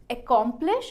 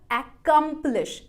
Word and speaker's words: accomplish: Stressed syllable कौन सा है ये भी वो वेबसाइट आपको बताएगी। वो कह रही है बीच वाला जो पार्ट है उसको आपको लाउडर और लॉन्गर बोलना है।